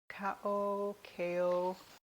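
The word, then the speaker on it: Cao: It's C-A-O. Kao.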